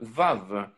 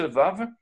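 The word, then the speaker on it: ו: Et donc, ce vav, c'est la sixième lettre. Elle se prononce de trois manières différentes. Soit c'est un V, soit c'est un O, soit c'est un OU.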